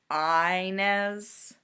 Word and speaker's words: Inez: It's pronounced with a long I. It's Inez.